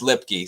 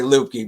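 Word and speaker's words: Luepke: wrong it's lipkey that's lipstick it's lipkey it's pronounced lipkey so I always say loopy but yeah I guess it's us anyway but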